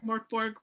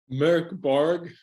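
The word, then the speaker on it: Mörk Borg: I always say Morkborg, but I know it's not right. Christopher, the speaking expert. Yep. Merk Borg.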